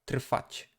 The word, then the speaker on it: trwać: It is actually comprised of kind of the three consonants, but since there is a T at the beginning, the whole part is kind of being voiceless. So trwać, trwać, trwać, trwać.